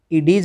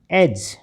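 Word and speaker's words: edge: नहीं निकलनी ऐसे ही ई डी जी ई इडीज नहीं एज क्योंकि यहां पर तो डी साइलेंट है आर आई डी जी ई रिज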